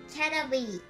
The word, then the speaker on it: Caterpie: キャタピー is also in English.Pronunciation Catapy だそうです。